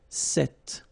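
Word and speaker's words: cet: if you listen carefully the masculine form here set and The Feminine form here set you write them differently but then you pronounce them the same way all right for the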